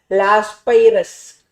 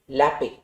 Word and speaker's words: Laspeyres: First type of weighted index number is called by a name called as Laape index number. What is the name, da? Laape. Some people would have called it in school like Laspeyres.